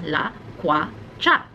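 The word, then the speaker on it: lakwatsa: of the day is loquats ah it's quite a hard one to say there's three syllables la COIs cha I think this might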